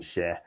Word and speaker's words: Schär: So we're gonna go Fabian Schär. Is that how you pronounce it? Schär?